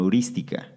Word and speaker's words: heurística: Y a estos atajos se le conoce como heurística. Heurística, con H y con acento en la primera I.